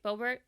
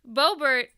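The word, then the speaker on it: Boebert: difference bobert wanting to it's brobert right i'm saying it right bobert oh okay okay beaubert it it's different she wants to have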